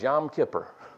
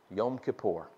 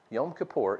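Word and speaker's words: Yom Kippur: and you say what in the world is yam Kipper I know you've done it I grew up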